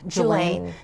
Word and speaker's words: Julaine: paperwork is, of course, Julaine, and am I pronouncing her first name right? Julaine. Yeah, mm-hmm.